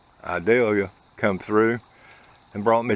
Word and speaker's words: Idalia: had hurricane I value I pronounce it like the sweet onion idalia come through and brought